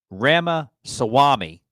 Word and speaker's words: Ramaswamy: Anti-woke businessman, Ramaswamy.